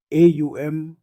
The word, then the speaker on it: ओम: ए यूएम ओम का हिंदू धर्म बौद्ध धर्म और जैन धर्म में बहुत गहरा आध्यात्मिक और सांस्कृतिक महत्व है। इसका उच्चारण ओम या एयू एम किया जाता है और इसे ब्रह्मांड